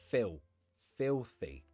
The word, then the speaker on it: filthy: Notice in the pronunciation, the L is like an L, so it's not filthy. You can pronounce it that way, but it's more common to just say filthy.